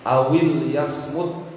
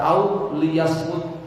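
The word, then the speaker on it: أَوْ لِيَصْمُتْ: Awil yasmut, awil. Jadi huruf atofnya yang dihidupkan, lamul amrnya yang disukun. Awil yasmut, jangan baca au liyasmut, lamnya di kasroh, jangan.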